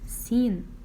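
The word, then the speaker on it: س: This is letter sa, sa, and its name is sin.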